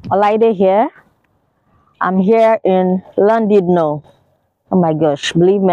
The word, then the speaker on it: Llandudno: I'm here in Llandudno. Oh my gosh, believe me, I had to check Google for that pronunciation.